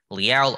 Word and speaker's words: Leal: I know it looks like Leal, but it is pronounced Leal.